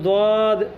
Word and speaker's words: ض: نقطہ ڈالو تو ضا جس کو کچھ لوگ زوئی پڑھتے ہیں، یہ غلط تلفظ ہے، الف کے ساتھ پڑھا جائے گا تلفظ تو ضا۔ اور اسی طرح عین